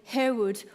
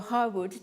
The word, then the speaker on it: Harewood: Fanny Waterman, a very renowned pianist and piano teacher, and Marion Harewood, or Harwood, depending on the pronunciation, conceived and realized this venture at a time when women rarely held leadership positions in music.